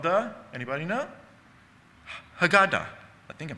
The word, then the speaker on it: Haggadah: Haggadah. I think I'm pronouncing it right. The Haggadah. And you can hear Haggah in Haggadah.